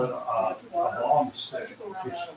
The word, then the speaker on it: bang: They call it a bong stick. It's spelled BANG, but it's pronounced bong.